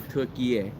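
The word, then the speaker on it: Türkiye: to turkey okay so which in english language the closest way to pronounce that name should be turkey air so there's no more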